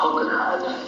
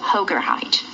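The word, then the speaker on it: Hoogerhyd: r h y d and how do you pronounce that uh hoger hiide hoger hiide all right so I am re um reviewing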